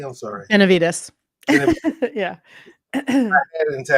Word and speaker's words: Benavides: joined by Grammy nominated artist or Arthur Glinda Ben Benz did I say it correctly I'm sorry Benavides yeah I had it until I had to